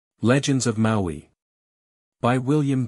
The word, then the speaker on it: Maui: Maui is a demigod whose name should probably be pronounced Maui, i.e., Maui.